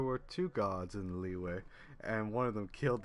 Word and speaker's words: Liyue: it's just too good it's pronounced leeway god the [ __